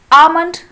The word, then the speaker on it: almond: Like this almond, ALMOND. Okay, this is the spelling of almond. But L is silent in this word.